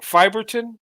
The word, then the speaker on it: Fiberton: I always do um fiberton welcome to the show good to see you brother uh did I say did I say it right fiberton that's right oh okay that's correct all right all right